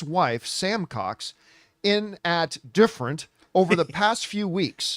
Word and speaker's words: DFRNT: There's a gym in Australia it's called Different, but it's spelled like DFRNT. Different.